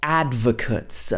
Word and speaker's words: advocate: change she talks about advocates do you know what this word means an advocate is somebody who supports something publicly who announces that they support something this is pronounced advocate an advocate you can be an